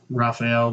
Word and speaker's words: Rafael: That's Rafael dos Anjos, or Rafael, depending on however you pronounce it. Well, if you're from Brazil, every R is an H.